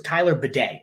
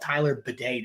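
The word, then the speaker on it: Tyler Badie: want to be called Tyler Bidet now. He changed the pronunciation of his name. If you want to be called with the thing that cleans your butthole, go for it, Tyler Bidet.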